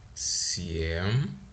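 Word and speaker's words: семь: My soft sign actually it influences the way I pronounce piat, right? Again, we have another soft sign, shiest, right? Sh, jest, shiest, siem, siem, siem, soft sign, Miyagi snack, right?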